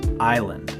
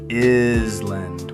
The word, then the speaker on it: island: Island. Oh, the silent S. Right, you'd expect island with the S making a sound, but it's just island. The S is completely silent.